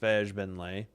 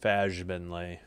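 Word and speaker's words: Fagbenle: 6 rebounds, Fajbinlay. Again, I know it's a hard G. I choose not to say the hard G. I say the soft G so YouTube doesn't mark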